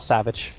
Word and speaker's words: SVG: It is in fact Savage. I checked with the man himself. He's fine with SVG or Savage.